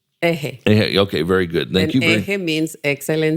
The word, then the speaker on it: EJE: And am I pronounced is it called Ehe? How do you pronounce it? Ehe Okay.